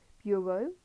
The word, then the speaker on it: bureau: Bureau, to rhyme with row.